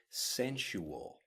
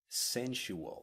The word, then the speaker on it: sensual: about something next and listen carefully to the pronunciation of this word sensual sensual now sensual and we're talking about the senses